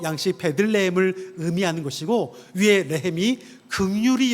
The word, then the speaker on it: 베들레헴: 레이라는 어 발음이 똑같은 말이 또 있는데 여러분 혹시 베들레헴 아시죠? 베둘레헴 말고요.